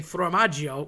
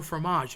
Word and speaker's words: formaggio: Just like when you're saying formaggio, which is the word for cheese, people say, oh, fromage. Yeah, fromage is French. That's great. That's cheese in French, but that's not Italian. It's formaggio.